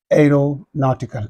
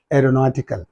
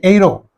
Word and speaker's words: aeronautical: it is the word aeronautical aeronautical so here aeronautical yes let me write this a this e silent r a ro na this U is silent t a don't say AO a ro na n